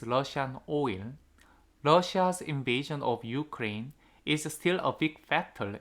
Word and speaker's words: Ukraine: of Ukraine 했으니까 second syllable이고요. 자꾸 저도 모르게 유크레인 한 해버린다 자꾸.